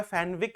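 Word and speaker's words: Fenwick: देखो कई इसका प्रोनंसिएशन जो है फैनविक भी करते हैं लेकिन जो सरनेम जो है उसको प्रायोरिटी पर इसका प्रोनंसिएशन फेनिक होगा। ठीक है ना? फेनिक फेनिक है ना? और एक प्रोनंसिएशन इसका जो है फेनविक भी होता है।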